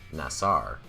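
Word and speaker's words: נָשָׂא: The Hebrew word that we pronounce as NASA, or more correctly, nasar, is a primitive verb meaning to lift up, to support, or to carry.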